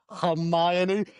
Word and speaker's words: Hermione: And yes, to all of our listeners, that is how the name is pronounced. Hermione.